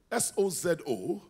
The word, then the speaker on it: sozo: is the word sold s o z o yeah Soo but some people pronounce it Sozo right then the Salvation